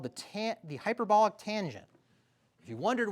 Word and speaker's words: tanh: Jake Nick, do you know how they they call it tanch? Yeah, tanch.